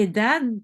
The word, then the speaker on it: edad: Le D à la fin ne se prononce presque pas. ¿Qué edad tiene?